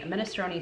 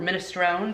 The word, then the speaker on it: minestrone: one we're also doing a minestrone soup or minestrone depending on where you're from and how you pronounce things and then finally we